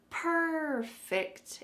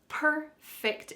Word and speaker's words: perfect: I want to speak perfect English. The emphasis is at the beginning. So, make sure that that emphasis is correct in order to say this word accurately.